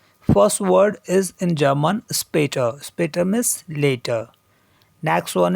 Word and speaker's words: später: First umlaut we have here a, but it is pronounced as a if it comes in any word, just as a in mate in English.